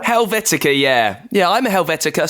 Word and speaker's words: Helvetica: I'm really scared I'm going to pronounce it wrong, so do correct me if I say it wrong. Helvetica? Helvetica, yeah.